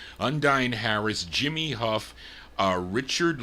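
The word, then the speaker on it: Undine: uh is it un how is it you undy I think that's how you pronounce it u n d i n e undy Harris Jimmy Huff uh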